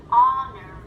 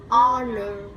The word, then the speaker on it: honor: Và có một số từ mà có chữ H nhưng mà lại là âm câm. Hour. Hour. Hour. Ở đây là mình chỉ có phát âm cái đoạn phía sau thôi, còn chữ H là không có gì.